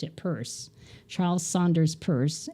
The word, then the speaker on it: Peirce: And it's spelled like Pierce, but he pronounced it Peirce.